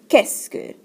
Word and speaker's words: qu'est-ce que: So when we pronounce this question word right here, it's pronounced qu'est-ce que. Be careful, not est-ce que, but qu'est-ce que. There's a que sound in front of it.